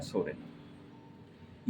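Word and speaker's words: Psorinum: करने वाली मेडिसिन है सोरेनम। यह मेडिसिन पी सोरेनम के नाम से आती है। यानी इसमें पी साइलेंट है। पी साइलेंट होने की वजह से इसको सोरेनम के नाम से जाना जाता है।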